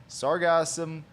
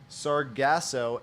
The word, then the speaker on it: Sargassum: Well, there's actually two ways to pronounce it. Sargasso and sargassum. Right. I always do sargasso and I drop the M.